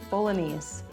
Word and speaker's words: Bolognese: Bologanese. The g is silent.